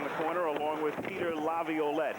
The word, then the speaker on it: Laviolette: Scrapping for it in the corner along with Peter Laviolette. He has re-added a syllable. It's 4 syllables. Laviolette.